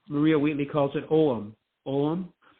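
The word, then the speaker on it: Ogham: you mentioned the word oam and that's what I always pronounce it but U Maria Wheatley calls it omam om it doesn't look like the way it's spelled you know and so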